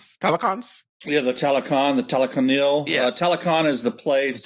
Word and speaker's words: Talokanil: How you pronounce their names? The Talokans? Yeah, the Talokan, the Talokanil.